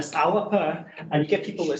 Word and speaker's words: Alba: you may have company Al something and they pronounce ala whereas in G ala and you get people to say ala because that's the way it looks in English